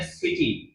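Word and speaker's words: city: के बाद आई में सिटी। क्या आता है? सिटी। देख लिए उच्चारण, सा निकल रहा है, सी के बाद आई है।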